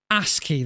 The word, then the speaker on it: ASCII: ASCII, that's how it's pronounced.